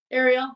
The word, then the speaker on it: Arial: Is it Ariel or Ariel? Ariel, like Little Mermaid.